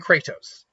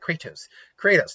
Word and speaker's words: Kratos: Neither can Kratos. Why did I say it like that? Kratos. Neither can Kratos.